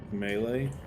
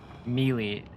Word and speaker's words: Melee: Melee? How do you say it, James? Because all my life I said melee. That's not even an argument. That's just wrong. Melee? Yes, melee.